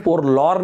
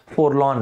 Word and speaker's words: forlorn: दोस्तों long lasting दुख के लिए, सैडनेस के लिए वर्ड होता है फोरलॉन, FORLORN, फोर, इस वर्ड का प्रोनाउंसिएशन फोरलॉर्न नहीं है, फोरलॉन है, फोरलॉन।